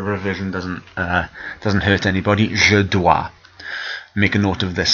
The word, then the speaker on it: dois: Je dois. Make a note of this somewhere. Je dois. The S is silent, O and an I like a wa sound.